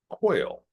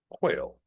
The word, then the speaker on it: quail: Uh, first up, we have quail. rhymes with nail quail.